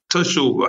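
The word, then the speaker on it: תשובה: Teshuvah.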